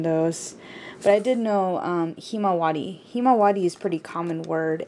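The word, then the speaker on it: ひまわり: In Japanese, it's pronounced himawari.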